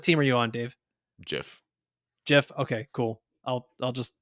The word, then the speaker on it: GIF: The creator of it said it's Jiff. Like if Did he type it out or did he say it? no, he said like they asked him. The creator of it said that it is pronounced Jiff.